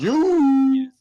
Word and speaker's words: Iuz: yeah, it's IUZ is how you spell it. You.